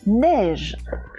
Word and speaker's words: neige: Alors neige, il y a le son est, on entend le son est, mais c'est un est qui s'écrit avec 2 lettres. C'est le est de baleine, le est de neige, le est de... Oh, qu'est-ce qu'il y avait d'autre? De reine, voilà.